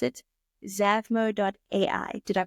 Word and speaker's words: Zavmo.ai: I would like to now shift and talk more about, please excuse me if I mispronounce it, Zavmo.ai.